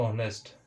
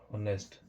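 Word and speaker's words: honest: एक होता है दोस्तों ऑनेस्ट। होनेस्ट लेकिन इसको होनेस्ट हमें पढ़ना नहीं है। यहां पर भी हमारा एच हमारा साइलेंट होता है और इसको हमें पढ़ना है ऑनेस्ट।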